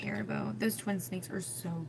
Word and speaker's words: Haribo: Let me say it right, Haribo.